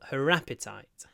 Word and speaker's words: appetite: H H her appetite the stress is on the first syllable appetite appetite appetite appetite appetite